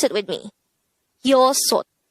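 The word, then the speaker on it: 여섯: Next, the native Korean version of number 6 is yosot. Again, yosot. This is composed of two syllables. The first syllable is yo, the second syllable is sot. Pronounce it with me. Yosot. Yosot.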